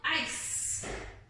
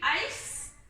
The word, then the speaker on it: ice: See, when I read ice, my C is making an S sound. Ice sounds like ice, right? But it's spelled I-C-E. That's called an exception to the norm. So when you see words that end in I-C-E, you know it's going to say I-S-E sound, ice.